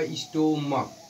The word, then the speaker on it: stomach: जैसे आपका होगा स्टोमक, मक, स्टमक जिसको बोलते हैं STOMACH, स्टमक।